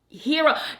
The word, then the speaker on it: gyros: people up in her the Gyros are usually pronounced hero girl they they gave